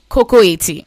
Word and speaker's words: Kokoette: Please, once again, for all the listeners out there, how is it properly pronounced? Kokoette.